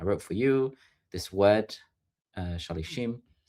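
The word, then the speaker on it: שלישים: So it's kind of written as if it says shalshom, which can mean like threefold, but it's pronounced shalishim, which is similar to 30, but it's not.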